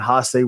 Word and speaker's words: Hase: Miracle Violence Connection against Muto and How do you pronounce Hase? Hase, yep.